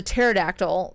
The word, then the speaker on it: pterodactyl: the green paradictal peridoctyl you don't pronounce t patera the pterodactyl then it was like